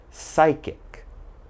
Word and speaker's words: psychic: pneumonia Psalm psychology psychiatrist psychic and psycho so alright if you ever see these words and something you're reading just remember there's a silent P when the word begins with P and is followed